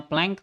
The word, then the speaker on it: Planck: disebutnya adalah konstanta Planck ini kadang-kadang disebut nya peleng Tapi saya lebih suka membacanya plang karena kalau prank itu